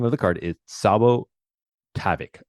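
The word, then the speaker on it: Tsabo Tavoc: Okay, the name of the card is Sabo Tavic. Let me spell it. Sabo, spelled T as in tango. S as in Sierra, A B O. Tavic. T A B O C. Sabo Tavic.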